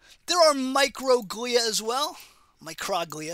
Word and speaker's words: microglia: are microglia as well microglia is really how you pronounce it they're small so they're micro glia they are phagocytes they're